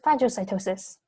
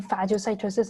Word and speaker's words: phagocytosis: remember the difference between phagocytosis and pineal cytosis i think how fragile like starts with the ph which is pronounced f like food so phagocytosis food intake